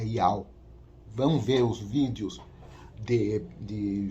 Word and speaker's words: Yahweh: quando eu falei Yehoshua, quando eu falo o nome do Criador como Yahuwah, esteja enganado, não é essa pronúncia, a pronúncia certa é Yahweh.